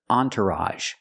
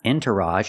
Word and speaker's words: entourage: have this word entourage this is a special word because the makes a sound on it's not Entourage it's on Entourage so the first syllable is on the second syllable is tur make the r sound like burger entour and at the